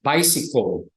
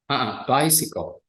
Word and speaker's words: bicycle: Toda palabra que termine en LE, por lo general la pronunciación es una OL, marcada con la consonante previa. Bicycle, table, apple. Casi siempre es una OL, pero es una O suave, no es bicycle. Bicycle.